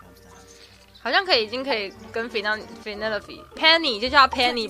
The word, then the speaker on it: Penelope: Officially, yes, but I never can be bothered with all 4 syllables. Penny Penelope sounds a little ostentatious coming out of the mouth.